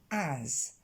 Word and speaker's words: as: Sa prononciation sera facile, c'est un vrai A, comme le A de cat ou hat. On va le prononcer as, dans sa forme pleine ici.